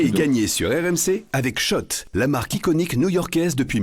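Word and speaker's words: Schott: Jouez et gagnez sur RMC avec Shot, la marque iconique new-yorkaise depuis 1913. Oui, Shot. Et pas Scott, ça fait des années qu'on prononce mal la marque.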